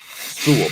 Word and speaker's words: Sewell: Yeah, just Sewell, like full, but with an S. Sewell, Penei Sewell.